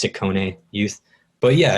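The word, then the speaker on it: Ciccone: a bunch of collaborators in um sorry it's pronounced sikkone youth but yeah it's probably just another one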